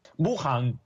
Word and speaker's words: Wuhan: Bueno, primera duda de Nico Wiñaki, ¿cómo se pronuncia Wuhan? Wuhan.